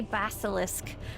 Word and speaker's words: basilisk: how to say it it's supposed to be basilisk like a basilisk Dragon the dragon okay let's